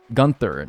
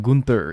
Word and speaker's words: Gunther: Like, when people tell me it's iridium, not iridium, and it's Gunther, not Gunther in Stardew.